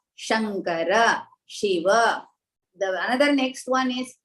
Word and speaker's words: Shiva: is sure not sir it should be Shiva like that you should not say Siva Shiva is wrong then the next one